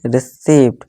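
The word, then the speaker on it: receipt: इसी तरह से रिसीप्ट नहीं, पी साइलेंट है, रिसीप्ट, ठीक है दोस्तों।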